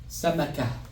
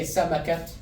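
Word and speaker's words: سمكة: So you're not gonna say samakat. It's gonna be samaka.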